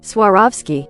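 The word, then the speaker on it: Swarovski: All right, I'm tired pronouncing this. We're going to figure it out. Suaravski.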